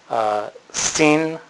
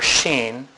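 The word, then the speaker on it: שׁ: the Hebrew letter Sheen it can be pronounced Steen or Sheen and there's no uh punctuation mark on here but if you have a DOT between the first and second Wing that would be your s sound if you have a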